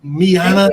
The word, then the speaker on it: Yana: Miana, don't say it wrong. See, it rhymes with Rihanna.